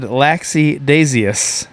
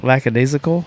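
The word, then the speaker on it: lackadaisical: then uh Bubba said laxi daus instead of lacad isical I believe is prob pronounced I was like bro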